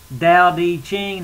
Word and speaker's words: Tao Te Ching: it from it's uh d d Ching the the t is pronounced d and lau some some